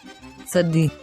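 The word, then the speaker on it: צדי: tzadi, tzadi, Tzadi has the sound of T and S pronounced together. Let's pronounce the sound tsa, tsa, tsa.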